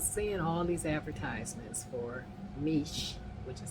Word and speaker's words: Miche: So, I was seeing all these advertisements for Meech, which is how you pronounce it. I've been pronouncing it all wrong. Meech.